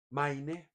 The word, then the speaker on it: Maine: se llamaba Main Main Maine Main se pronuncia y que llegó a